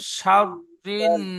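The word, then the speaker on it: شَرِّ: ومن شر الحاسد অমিন শাহ হবে না, শিন র যাব শাওরু, শিনটি রর সাথে যুক্ত হবে। অমিন শারিন নাফা ومن شر ومن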